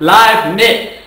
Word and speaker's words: Leibniz: It's pronounced Leibniz.